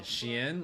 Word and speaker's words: Xian: and he always ends up back and Like when I say Xian, like the guy you're thinking about, Seko, I pronounce it kind of like the name Ian in the middle.